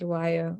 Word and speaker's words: Dhliwayo: today um say my name is lawyer or I'm in transition because I'm currently